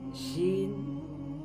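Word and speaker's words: شين: জিহ্বার মধ্যখানটা উপরে তালুর সাথে লাগিয়ে শিন উচ্চারণ করা হয়, শিন।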